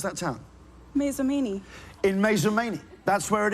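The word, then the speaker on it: Mazomanie: It's currently 10 milesi from Mount Horb in the town of How do you How do you pronounce that town? Masamini.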